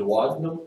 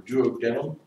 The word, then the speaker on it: duodenum: 10 inches long it's called the duodenum or duodenum either pronunciation of spotting the wild